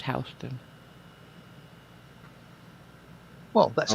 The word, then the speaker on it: Houston: not pronounced Houston. It's Houston.